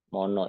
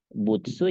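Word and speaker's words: 物: mono di sini minasang mono itu ya kalau enggak dibacanya butsu ya motsu gitu ya Tergantung dia ketemu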